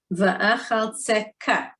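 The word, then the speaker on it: ואחלצך: Va'achaltzeka, because it's a chaf sofit with a dot, so it's a kaf sofit.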